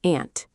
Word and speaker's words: aunt: The word aunt can sound different in American and British English. Yes, in American English, it sounds like aunt.